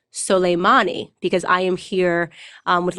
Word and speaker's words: Soleimani: news that we killed Salameh knee I'm saying his name wrong I've just learned actually it's soleimani because I am here